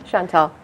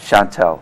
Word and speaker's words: Shantal: and our guess is Chantal did I pronounce it correctly Chantal Chantal okay well I'll read your